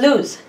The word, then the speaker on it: lose: gmat exams so to lose pronounced with a z sound is a verb meaning